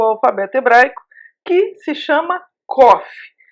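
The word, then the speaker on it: קוף: mas eu sei que o nome dela é Coffee e que ela tem um som de que de queijo e essa letra Ela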